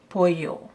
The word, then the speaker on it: pollo: or Mexican arrow and the proper pronunciation is arroz con pollo not polo but pollo is Italian